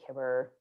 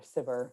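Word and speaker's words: Cibber: actor and theater manager colley kibber or sivir depending on how you pronounce it uh and he was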